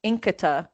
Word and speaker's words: Nkita: So for someone that had never heard of Nkita before, I'm going to say it right.